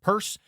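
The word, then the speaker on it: Peirce: After that, I discovered a philosopher named Charles Perz, spelled Pierce with the E in the I switched but pronounced purse.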